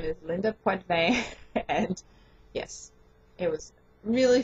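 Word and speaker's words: Poitevin: her name many times it is pronounced in French I was right in wanting to do so so her name is Linda PVE and yes it was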